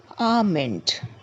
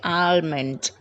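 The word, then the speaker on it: almond: the L hor nut two pistachio pistachio three arment Armond this is a common mispronounced word some people say alment alment it's wrong it should be arment for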